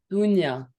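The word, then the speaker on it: Dounia: Dunya. So it's Dunya. the OU is pronounced U.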